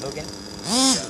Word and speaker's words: Mugen: Oh yeah, the ones that I have, my Mugen, which is actually Japanese pronounced Mugen, and you've heard of them.